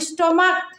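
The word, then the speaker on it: stomach: হয় কিন্তু এখানে দেখো স্টমাক এটার উচ্চারণ সিএইচ এর উচ্চারণ কর মতো হইছে এজন্য এখানে স্টমাকস হবে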